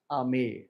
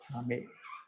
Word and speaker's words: Amer: His capital was Amer or Amber in a proper writing, but it is called pronounced as a Amer.